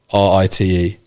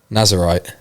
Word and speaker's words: Nazirite: I've definitely butchered that pronunciation. Nazirite. Nazirite.